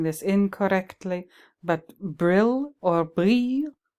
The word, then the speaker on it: brille: It's called, I hope I'm not pronouncing this incorrectly, but brill or brille, B-R-I-L-L-E. With French, the double L is pronounced kind of like a Y, brille.